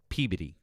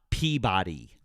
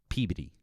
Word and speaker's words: Peabody: Catherine said, pronounce Peabody properly for the class. Peabody. Not Peabody. Peabody.